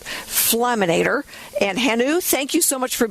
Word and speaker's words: Hannu: Um uh you pronounce it well. It's Hanu and uh and uh uh the product is called Flameator.